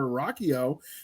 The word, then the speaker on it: Ruocchio: Christopher Ruocchio. I'm probably butchered your last name, so no, you got it.